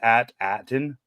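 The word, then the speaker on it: At Attin: a t a t i n the planet pronounce at Aton is it does it have I guess it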